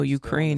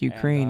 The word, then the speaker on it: Ukraine: Next thing you know, Ukraine is not pronounced Ukraine. It's Ukraine.